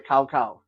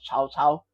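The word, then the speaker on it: Cao: I know some people say kao, but I hate it when white people say that. It's supposed to pronounce chao.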